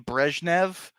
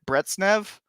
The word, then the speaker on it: Brezhnev: because I pronounced it Brezhnev. It's literally that minor of a difference. Brezhnev, Brezhnev. That's it. And also in English we don't have a zh.